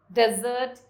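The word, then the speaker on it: dessert: Here's the difference of pronunciation. Desert, sandy region. Desert, sweet food served at the end of a meal.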